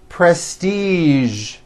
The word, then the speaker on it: prestige: casual television very good now there are only a few words that have the voiced sound at the end a few of these words are the color beige the word massage and the word prestige okay now that you